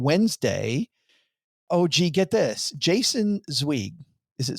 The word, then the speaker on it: Zweig: coming up on Wednesday, OG, get this, Jason Zweig. Is it Zweig or Zweig? Yes. Yes. Jason, every time I pronounce his name, by the way, I get